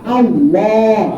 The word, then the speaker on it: আল্লাহ: উপরে যে জবর আছে এই আল্লাহ শব্দের আগে যদি জবর আর পেশ হয় তাইলে এটা হবে পর একটু মোটা আল্লাহ আল্লাহ আর যদি জের থাকে আগে তাইলে কি হবে চ্যাপটা বারিক হবে যেমন বিসমিল্লাহ বিসমিল্লাহ কি আমরা কই